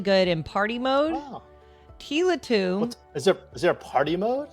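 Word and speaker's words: Tiletum: Is that how it's pronounced? Tila Tomb? I believe so, yes. Tila Tomb. I always call it Tile Tom. I have no idea how to pronounce it.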